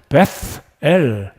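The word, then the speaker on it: 벧엘: 그리고 야곱이 잠에서 깨어서 아침에 일어나서 그곳의 이름을 베델이다. 정확한 발음으로는 베스엘, 정확한 발음으로는 베스엘이 되겠습니다. 베들레헴의 똑같은 발음이죠.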